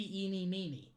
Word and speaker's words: Eeny Meeny: i'm not gonna like i know that the correct way to pronounce that second word would be miney but her name has to be eenie meenie because because eenie meenie miney mo there are several variations